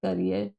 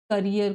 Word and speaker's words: करियर: That transformed his करियर, जिसने उनके करियर को बदल दिया। ट्रांसफॉर्म्ड मीन्स बदल दिया। ये करियर है, इसको कैरियर प्रोनाउंस नहीं करेंगे, इसको करेंगे करियर।